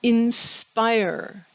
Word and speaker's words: inspire: vocabulary start with the word inspire in the question inspire the stress is on the second syllable the next word in